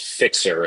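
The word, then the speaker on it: Fyxer: I I really like one called Fixer and that's spelled F Yx er.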